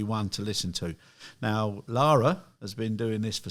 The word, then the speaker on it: Lara: and we've now got Laura with us that's the correct way of pronouncing is it Laura Lara Lara okay I was focusing on